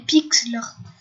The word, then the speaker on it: Pixlr: Puis ça s'appelle Pixlr. Enfin, en fait, ça s'écrit P-I-X-L-R.